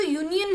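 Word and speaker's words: union: अन whole अन यूनियन अब जो यूनियन है यह वावेल्स स्टार्ट हुआ लेकिन जो इसके साउंड है वो कंसोनेंट साउंड है यूनियन इसलिए हमने ए का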